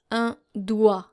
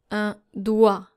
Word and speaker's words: doigt: And there are actually two silent letters here, which are the G and the T. So you're supposed to pronounce this word un doigt. Un doigt.